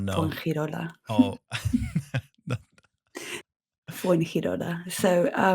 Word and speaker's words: Fuengirola: will be amazing to hear you pronounce. Oh It's no. Fuengirola.